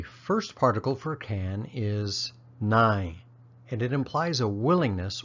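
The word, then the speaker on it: နိုင်: ability to do something the first particle sounds just like the number 9 with a barely discernible final in sound 9 the second sounds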